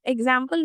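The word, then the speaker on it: example: लेकिन अगर हम बात करें बीच के एक्स की तो यह दो तरीके की साउंड दे रहा है। एक जी की और एक जेड की एग्जांपल अ के लिए तो इ है।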